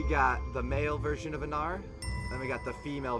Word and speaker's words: Anar: So, changeling's name is Anar. Anar. Ooh. I'm guessing that's spelled A-N-A-R?